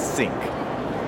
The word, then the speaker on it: SYINC: know you can just Google s y i n c pronounced as sync you know it it's